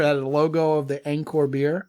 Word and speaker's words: Angkor: Angkor, like Angkor Wat.